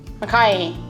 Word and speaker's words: makai: Now, last episode we focused on the Mauka, the mountainside of Hawaii, and this time we're focusing on the, say it right, Makai, the ocean.